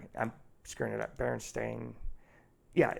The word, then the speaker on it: Berenstain: Berenstain. Yeah, it's spelled different, or like Curious George, and it